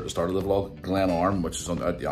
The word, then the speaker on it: Glenarm: attended the camp dal fest things from the pronunciation camp dal fest music festival and as a glam arm i just try to remember where it was at the start of the vlog glenn arm which is on at the anthem coast if